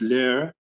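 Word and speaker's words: Leer: about that town by the name of lair l-e-e-r and in german it's lair and the film is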